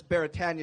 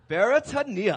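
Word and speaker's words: Beretania: the street behind me we all mispronounce it as baritan street but the proper pronunciation is barania I love this you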